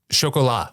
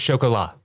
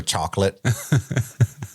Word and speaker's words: Chocolat: In the second President's Day trivia episode in 2022, one host corrects another on the pronunciation of this movie title. One word, foreign language. Chocolat. What is chocolat?